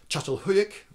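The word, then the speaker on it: Çatalhöyük: to sound a little bit more authentically Turkish chatal huik if you're Turkish you probably can tell I still got it wrong but you that's closer to the original to the the correct Turkish pronunciation um and you could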